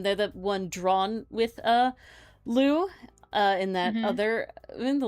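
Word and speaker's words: Lö: They're the one drawn with Lou in that other in the little lion. His name is also Lou, but it's spelled L with the O umlaut, so it's like Lo.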